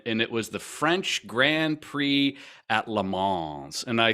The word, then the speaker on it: Grand Prix: blood so um this this all goes back to the word Grand Prix Pricks yes is that how you pronounce it p-r-i-x yes absolutely I'm pretty sure that's what oh Grand Prix sorry sorry um so